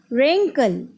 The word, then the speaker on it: wrinkle: All the words here, W is silent.